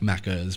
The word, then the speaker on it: Macca's: you say it with an A, but yeah, technically, like if you want to pronounce it properly, like Macca's, but yeah, it's like Macca's.